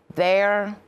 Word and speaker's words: they're: They're there. Произношението е абсолютно едно и също, само не бъркайте значението.